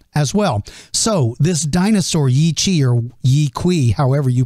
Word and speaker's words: Yi Qi: His name is Yi Qi. Some people pronounce it Wei Qi. It's spelled Y-I-Q-I.